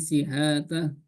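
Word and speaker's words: شحاتة: Ali Syihatah. Nah itu Pak Johan, Ya. itu pakai shin. Itu Syihatah.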